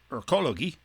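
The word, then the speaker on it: Ökologie: it in german so it wasn't pronounced ecology it was rather pronounced erkologi and in an 1869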